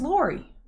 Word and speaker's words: Lori: going to introduce myself my name is Lori pronounced with the Ori give me a follow